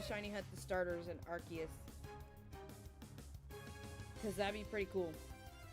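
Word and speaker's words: Arceus: to be or's it I think it's pronounced arus I read it in my Pokémon book hold on what was it it said how to pronounce it it said archus yeah that's right like a key in the middle archus so I did say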